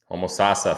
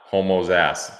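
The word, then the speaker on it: Homosassa: Maricopa County Arizona Toronto homos Sasa Florida not homo's ass definitely not that it's if but if you spell it the wrong way it could be and the guy that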